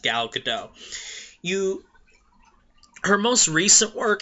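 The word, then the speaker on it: Gal Gadot: g a d o t it looks like gal GD do but it's pronounced gal gdau you her most recent work she was in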